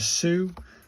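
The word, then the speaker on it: す: And this is a Sue, like in a super. So this is a Sue.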